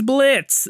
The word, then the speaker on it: Blitzo: The name's Blitz. The O is silent.